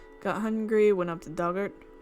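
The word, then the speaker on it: Dugort: Pronounced Doug like the past tense of dig, or Duggart.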